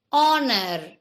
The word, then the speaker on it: honor: Honor. See, it starts with a sound of a vowel, so we say an honor.